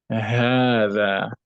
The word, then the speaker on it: هذا: Now note, remember that when we learn هذا, we said this the ha of هذا is elongated when you pronounce it, although like the alif is not written after it.